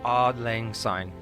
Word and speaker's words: Auld Lang Syne: Auld Lang Syne.